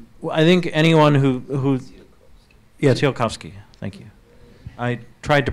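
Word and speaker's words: Tsiolkovsky: Speaking of Tsiolkovskii's 14th point, I think anyone who yeah, Tsiolkovsii, thank you. I tried to pronounce it, but it had a lot of consonants in it.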